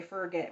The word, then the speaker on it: forget: It's for get, not forget.